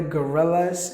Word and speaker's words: gorilla: guy right la quwata you have to stress the first syllable gorilla the next word is gradually